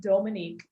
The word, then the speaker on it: Dhomonique: me so the h the pronunciation dominique is french and then the h and the two o's which is very unique that is african so my name is